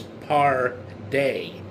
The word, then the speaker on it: Pardey: And this last name, it's going to sound like party, but it's par day. P A R D E Y or party, however you prefer to pronounce it, because I looked up this last name.